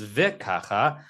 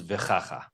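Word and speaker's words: וככה: But since the word doesn't begin kacha, it begins vikacha. All of a sudden, you don't have a reason why the kaf has a dagesh because it's neither beginning a word nor a syllable, and therefore it's vichacha.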